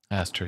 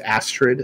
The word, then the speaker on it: Astrid: Astra, yeah. It's pronounced Astrid, actually.